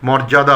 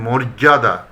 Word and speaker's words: মর্যাদা: এটা অনেকেই মর্যাদা বলে, কিন্তু হবে না, এটা বলতে হবে মর্যাদা।